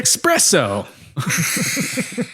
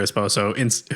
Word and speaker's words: esposo: And she says she's waiting for her espresso. No, she says she's waiting for her esposo, who is inside, and